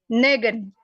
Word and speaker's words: negen: Negen. Negen. Sama dengan zeven, E-nya dibaca 2.